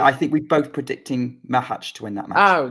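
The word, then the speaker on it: Macháč: but anyway yeah like mahaj is is probably mahaj is probably the correct pronunciation but Hest the I say mahaj too anyway um what what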